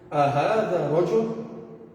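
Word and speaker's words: أهذا رجل: Então, como que ficaria essa pronúncia? Ahada rajul.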